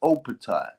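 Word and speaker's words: Jai Opetaia: It's Opatai. That's how you pronounce it.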